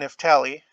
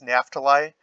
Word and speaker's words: Naphtali: of the scriptures online, the guy pronounces this Naphtali, but I think we might also call it Naphtali because you have Naphtali Bennett, who's currently the prime minister